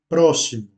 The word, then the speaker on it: próximo: Puis nous avons le mot próximo. Donc on accentue le premier O puisque c'est là où se trouve l'accent. Próximo.